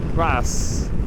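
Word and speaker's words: Reims: I couldn't travel through France without stopping at this historical spot just outside of Rims or Ras as the French pronounce it.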